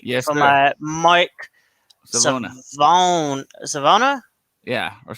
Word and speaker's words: Savona: Mike Savona. Savona. Yeah, or Savannah.